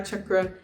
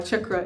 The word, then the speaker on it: chakra: I want to explain why opening your third eye chakra is very important. If you're unaware of what the third eye chakra is, very popularly known as chakra, but it's actually pronounced chakra, is an energy center that is right here.